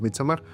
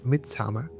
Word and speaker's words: Midsommar: apertura de este rollo, pues va a ser Midsommar, ¿no? Por ahí he escuchado, me da mucha risa que dicen Midsommar.